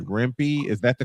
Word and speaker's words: Rempe: Yeah, because the name McCarthy asks, so Green Tree is just another Matt, I want to say this right, Rempe? Is that the correct pronunciation?